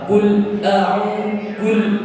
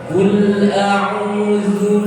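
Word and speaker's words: قل أعوذ: Setelah itu ada jeda ketika membaca kul a'udzu. Nah, itu ada unsur sakta, berhenti sejenak. Nah, itu tidak diperkenankan. Kul a'udzu birabbin nas.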